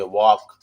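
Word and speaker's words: walk: उसी प्रकार आप एक ये ले लीजिए वॉक, वॉक, एल साइलेंट है, ठीक है।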